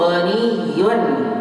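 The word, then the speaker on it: غني: At-tajiru ghaniyun. At-tajiru ghaniyun. Ada tasydid ya, ghaniyun.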